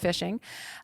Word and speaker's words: phishing: ransomware and fishing and it's not fishing at the lake there it's spelled with a ph so it's a different kind of phishing um so i know